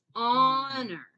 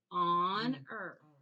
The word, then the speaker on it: honor: And then we have honor. Okay. Same way the H is silent. You don't hear it, but then the OR makes the sound. Honor.